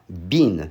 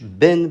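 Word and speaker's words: bean: Bin. Nie mówisz byn, bo to kosz na śmieci.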